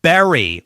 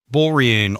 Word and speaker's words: bury: For the verb bury with the letter U is pronounced the same as the fruit berry with the letter E. Berry, berry. The letter U causes many of my students to say bore-ee-un or bar-ee-ay. So that's incorrect.